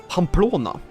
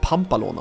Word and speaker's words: Pamplona: H do we want to visit Palona? Pamplona? That's how you say it. Not Palona.